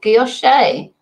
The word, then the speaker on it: gouache: Sue, just watch the French boat showing how to pronounce gouache. It's, oh, gouache.